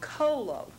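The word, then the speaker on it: cholo: colio which means bile and then there's another pronunciation taking the E off Colo c h o l o which means bile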